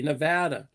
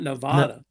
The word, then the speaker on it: Nevada: and Nevada um NADA you gotta pronounce it correctly Nevada not Nevada if if camea had